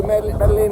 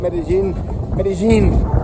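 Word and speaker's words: Medellín: How do they pronounce it in Colombian? I think it's Medellin. But I'm speaking English, so it's Medellin. Okay, that's another thing. If I'm speaking English to an English audience, I pronounce it as I see it. Medellin, okay? And not Medellin, because I am not speaking Spanish.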